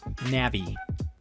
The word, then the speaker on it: Navi: More specifically, they'll be using AMD's NAV21 and NAV22 dies, or Navi. I mispronounced it.